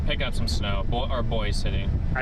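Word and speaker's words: Boys City: up some snow or boy city. I think they Is it Boise or Boys? It's Boy City. Boy. Yeah. So, I've been saying it wrong the whole time.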